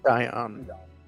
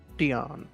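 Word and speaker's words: Dyon: Dion. Dion. Perfect. Thank you. So, just for your future reference, that's spelled D Y O N.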